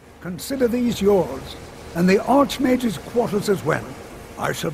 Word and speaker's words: Arch-Mage: you have our gratitude Arc Mage yes I I pronounce it Arch Mage but I suppose it that's fine you did say